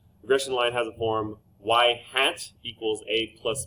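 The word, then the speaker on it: ŷ: results future outcomes regression line has a form y-hat equals a plus b it is pronounced it is said y-hat it is the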